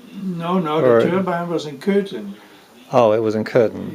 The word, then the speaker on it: Köthen: No, the turbine was in Köthen. Oh, it was in Köthen. Yeah, Köthen is spelled K-O-umlaut-T-H-E-N.